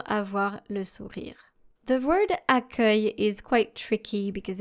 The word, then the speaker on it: accueil: Now make sure that you pronounce it this way. Accueil, such as the verb accueillir.